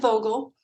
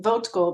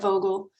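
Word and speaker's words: Vogtle: In my mind, I pronounce it plant vogal votal because that's how you spell it. It's V O G TL E, but the T is silent. So, it's plant vogal.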